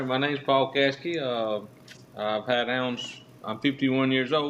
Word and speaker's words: Caskey: Caskey, okay, gotcha.